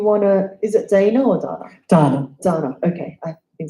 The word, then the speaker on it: Dana: So Dana, if you wanna, is it Dana or Dana?